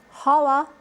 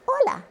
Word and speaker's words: hola: The H in Spanish is silent. It's not hola, it's hola.